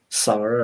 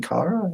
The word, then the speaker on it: Kara: then i ended up saying her name wrong to a guy and embarrassed myself because i kept saying like sarah or sarah or something like that for some reason he's like you mean kara i was like and